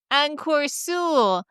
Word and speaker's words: Encore Seul: How to pronounce Encore Seul? Well, it's not two easy words. For Anglophones, there's some sound that don't exist in English. So first there's a "en." It's a nasal sound. So the "en" from the first